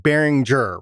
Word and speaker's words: Behringer: You pronounced it Behringer, right? Yeah. He said Behringer. It was Behringer, yeah. Yeah, there you go. Yeah. Okay, that is the definitive way to say it.